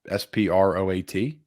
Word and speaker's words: Sproat: this for the clip sprout s-p-r-o-a-t sproat we're gonna get made